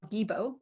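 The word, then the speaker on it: Gebo: this Rune is called gibo it's an X but it's pronounced with a G and it represents like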